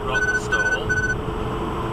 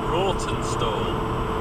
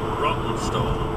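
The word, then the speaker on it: Rawtenstall: town of rotten stall now Rotten stall is pronounced rot stall but it's spelled r a w t e n s t a l so it's it looks like roton stor but it's pronounced rotten stor so many people in the media understandably get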